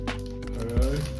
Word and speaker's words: Ho-Oh: Ho-Oh.